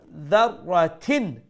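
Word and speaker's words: ذَرَّةٍ: Okay, so dharratin at the end, I'm saying a n sound, noon sound.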